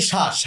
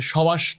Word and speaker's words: শ্বাস: তো বফলা যদি শব্দের শুরুতে থাকে, তখন সেই বয়ের উচ্চারণ আমরা করি না।